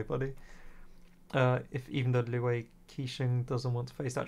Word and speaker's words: Qixing: The time of the adapting has long passed, if even the Liwe Kaching didn't, is, how do you pronounce that, Q-I-K-C, oh well, Quing, what, how do you pronounce this?